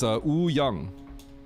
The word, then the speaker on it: Woo Young: So my Korean name is Woo Young. In Korean, you don't really say the W. Ooh, Young.